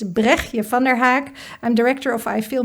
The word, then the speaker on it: Bregtje van der Haak: Um so my name is um difficult name to pronounce but it's Brechje van der Haak.